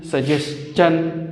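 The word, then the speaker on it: suggestion: Nation, formation, construction, ये तो ठीक है, मगर जिस भी TION से पहले इस आता हो तो फिर TION की आवाज़ शन नहीं होती बल्कि चन होती है। जिस तरह क्वेश्चन, सजेशन, कंजेशन।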